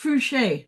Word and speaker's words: Fouché: It's pronounced Fouché, by the way. The last name there.